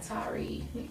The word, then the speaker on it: Tarrey: And it's pronounced just like that video game, Atari ColecoVision. Just take the A off, and you got Tarrey.